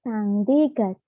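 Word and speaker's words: 쌍디귿: Nah, setelah double ini, dia berubah menjadi sangdiget. Sangdiget.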